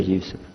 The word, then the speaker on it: Yusuf: Do you say Yusuf? You say Yusuf. Yeah, very good. I wish you'd teach my wife. She keeps mispronouncing it.